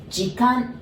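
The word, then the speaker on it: 時間: The pronunciation tip. Jikan, ji as in gin, you know, the gin tonics, gin, the ji. And kan as in kanpai. Remember, that means cheers, right? That kan.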